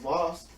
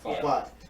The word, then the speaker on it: Vought: The boss of Voss, am I saying it right? Vought.